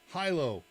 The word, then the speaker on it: Hilo: ones from up on I heard somebody on the news talking about Hilo today which is the way I've always heard it pronounced and they called it Hyo TT who lives there number one Hilo number two Hyo which is the correct local pronunciation number one Hilo number